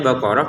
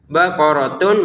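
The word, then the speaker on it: بقرة: Kemudian baqaratun kita baca baqarah. Kenapa? Karena ini huruf ta yang bulat. Ta itu ada dua ya. Ada yang terbuka seperti ini, ada yang bulat seperti ini. Kalau yang bulat seperti ini kita berhenti maka dia terbacanya huruf H ya. Baqaratun menjadi baqarah seperti itu. Kalau berhenti, kalau disambung menjadi huruf ta lagi.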